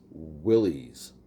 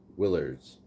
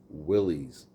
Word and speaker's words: Willys: And remember, it's pronounced Willys, not Willards. Willys, like a Willie.